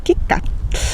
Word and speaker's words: KitKat: Por ejemplo, nosotros en español diremos WhatsApp, Facebook, McDonald's, Colgate, Palmolive, Cheetos o incluso KitKat, sin pronunciar la T final, KitKat, que es la chocolatina.